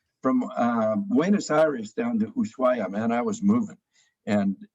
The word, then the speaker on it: Ushuaia: The town Ushuaia. Ushuaia.